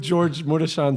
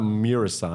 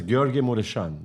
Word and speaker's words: Gheorghe Mureșan: The way I just said it, it's not Mirasan. I'm pronouncing it like a Romanian. His name is Gheorghe Mureșan.